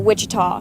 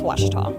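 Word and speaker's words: Ouachita: uh I've heard people say OA oh a Oita is it pronounced Oita searching for wasita Baptist University back in Texas everybody pronounces it witch but really it's wash wash wash how would you pronounce it wash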